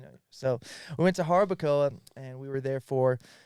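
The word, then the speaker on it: Jarabacoa: That's exactly, you know, you don't pronounce the J. I know that. You know, so we went to Harbakcoa and we were there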